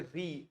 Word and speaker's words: riz: हाँ, तो जो चावल होता है उसको बोलते हैं री, RIZ, री।